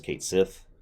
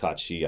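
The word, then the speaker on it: Cait Sith: How the hell are you going to play as Kate Sith? Yes, I know it's pronounced Kachi.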